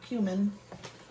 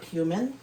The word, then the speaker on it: cumin: I'm going to put quite a bit of cumin, or cumin, whatever you guys call it. I call it cumin. Everybody else calls it cumin, which I guess that is the proper way to say it. I do speak Spanish, so it would be cumin.